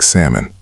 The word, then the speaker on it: salmon: Watch the L and walk. It's silent just like salmon.